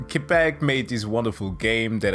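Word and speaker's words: Québec: french part of canada quebec i don't know why i always pronounce it like that the kibiqua anyways uh quebec made this wonderful game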